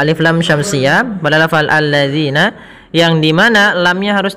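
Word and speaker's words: الَّذِينَ: lam syamsiyah pada lafal alladzina yang di mana lamnya harus tipis karena sifat lam itu tipisatadzina kemudian pada lafal zina hati-hati dalam melafalkan kan zalnya. Jangan sampai kita membacanya dengan zina.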